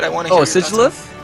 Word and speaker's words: Sigilyph: want to hear your Sigilyph? Sigilyph? Okay, so that's how I pronounce it as well, but I have heard Sigilyph as well, so yeah, I heard that too.